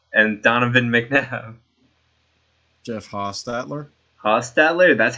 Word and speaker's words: Hostetler: one Dave Krieg and Donovan McNabb Jeff Hostetler Hostetler that's how you pronounce it okay yeah um I'm sort of